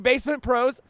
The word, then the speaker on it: BassMint Pros: It's actually BassMint Pros. I know some of the BassMint Pros guy.